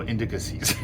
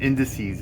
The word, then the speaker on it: indices: apologize about that but I have a a hard time saying indices so I end up uh I throw an extra syllable I go indicases they caught me on